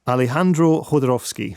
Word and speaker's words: Alejandro Jodorowsky: Alejandro Jodorowsky.